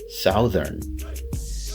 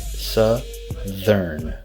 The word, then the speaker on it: southern: Sometimes some students will say southern, and I perfectly understand why, right? It's S-O-U, so it should be pronounced sow. But again, English, it's a bit different than other languages. So oftentimes you're not going to pronounce the word the way it is spelled. So here we don't say southern, we say southern, right? Southern, southern. Be careful with the TH sound.